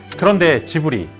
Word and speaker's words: Ghibli: Now here’s a fun twist about the name— If you pronounce "Ghibli" properly, it should actually be “Ghibli” . But is that what they call it? Nope. In Japan, they say “Ji-bu-ri.” Car enthusiasts might think of the Maserati Ghibli model. Yup. Same spelling. So why did it become “Ghibli” in Japanese? Honestly? It was a mistake. Miyazaki simply misread the Italian pronunciation when naming the studio.